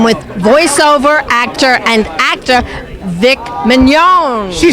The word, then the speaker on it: Vic Mignogna: I am with voiceover actor and actor Vic Mignogna.